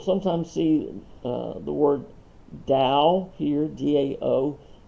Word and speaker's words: Dao: time uh you'll sometimes see uh the word dao here d-a-o spelled with the t taoism the same and sometimes